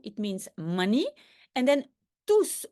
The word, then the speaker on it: tous: And then tous, why do I pronounce the S at the end of tous, although very often you do not pronounce the last letter in French?